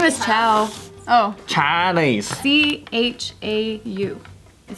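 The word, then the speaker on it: Chau: His last name is Chow. Oh. Chinese. C-H-A-U is how you spell it.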